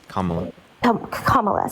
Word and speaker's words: Kamala: information also did you know that kamala's UHA Kamala sorry I apologize how say how do you